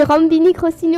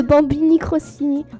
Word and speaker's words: Bambini Crostini: J'ai dit Rambini Crostini au lieu de Bambini Crostini.